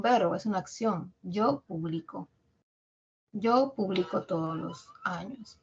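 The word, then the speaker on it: publicó: verbo es un verbo es una acción yo publico yo publico todos los años por ejemplo Ya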